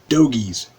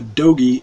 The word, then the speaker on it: dogie: the internet for this it will almost always say doggies g do GG IES that is incorrect it's got one G and it's pronounced dogies a dogie is a cow or a bull or a calf any any of those any cattle is Adobe I don't know where that term came from but that the old cowboy term for cattle and it's pronounced dogie let's see it was anything